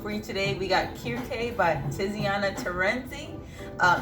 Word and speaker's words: Kirkè: and black here k this is how it's pronounced we went ahead and researched it um and kierke is actually another name for the goddess cersei